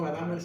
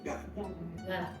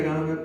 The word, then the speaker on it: Gadamer: Gadamer, así se pronuncia Gadamer, ¿no? No Gadamer, sino Gadamer.